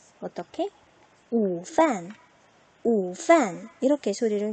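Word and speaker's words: 午饭: 午饭 이렇게 소리를 낼 수 있겠죠.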